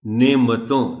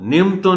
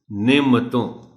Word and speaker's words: نعمتوں: ہے وہ ہے کہ میم پر جزم استعمال کر دی جاتی ہے۔ نعمتوں، نعمتوں نہیں، نعمتوں۔ موسم، اس لفظ کے تلفظ